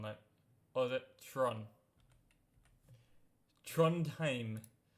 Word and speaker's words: Trondheim: Trondheim. That's how you pronounce it.